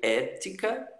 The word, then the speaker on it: ética: a penúltima e a proparoxítona é a antepenúltima sílaba. Então, ela sempre vai ser acentuada na língua portuguesa. Então, você vê aí ética, ética, música, música e vocálico, vocálico, vocálico.